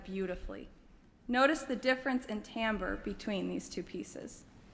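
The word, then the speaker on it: timbre: e it looks like Tambor but is actually pronounced Tambor it has to do with the unique sound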